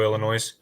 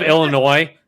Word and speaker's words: Illinois: all to fuck off because you pronounce the S on the end. It's just I don't really know. I wish I had an answer for you. Is it, it's just the state of Illinois becoming a sentient being.